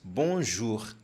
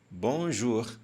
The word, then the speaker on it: bonjour: você saber é que toda vez que tiver uma palavra que tem essas duas vogais juntas o o e o u nós iremos falar u por isso nós pronunciamos Bonjour Bonjour bonsoir bonsoir bonsoir que